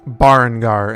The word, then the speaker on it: Berengar: Barngar, and that is spelled Berengar.